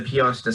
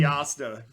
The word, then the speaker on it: Piasta: No, you said Piosta. Oh my god. It's definitely did. Piasta. That's the second time I made that mistake.